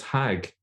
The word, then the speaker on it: Hajj: now what's interesting is the word Hajj is a direct Arabic borrowing from the Hebrew hag in fact in some arabic speaking countries including Egypt they still pronounce it as hag so it's directly from Hebrew Oden LaFontaine points out